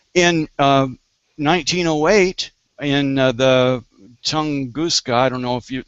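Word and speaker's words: Tunguska: in um 1908 in the Tonguska, I don't know if you that's the way you pronounce that meteor that landed over in Russia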